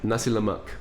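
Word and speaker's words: Nasi Lemak: How do you pronounce it? Nasi Lamak.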